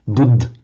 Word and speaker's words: Buddha: That is why you would hear Hindi and Marathi speakers talking about Buddh instead of Buddha, Pran instead of Prana, Vihar instead of Vihara, and so on.